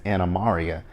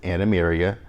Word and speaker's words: Animarium: but they kept referring they kept referring to it as anamaria and my first of all that's not how you pronounce it it's anemeria but that was queen um